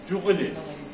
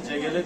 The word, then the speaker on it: CGL: Jiguli. Jiguli 125 diye geçer. Normalde CGL diye okunur, Türkçe'de Jiguli diyorlar.